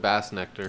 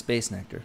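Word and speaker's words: Bassnectar: Is it Bass Nectar or is it Bass Nectar? It's Bass Nectar. Okay. Yeah. Heard it pronounced Bass Nectar Somebody's earlier fucking today.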